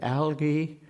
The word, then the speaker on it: algae: it in your head the most important soft G I think or hard G is the more della Kurt Algy and the sea anemone there are so many ways of pronouncing Al GAE it matters and I think it matters sufficiently for note that for Elliot it is algae the pools where it